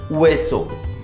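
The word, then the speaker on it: hueso: Bone को बोलते हैं अल वेसो, अगेन एच साइलेंट है, वेसो, अल वेसो।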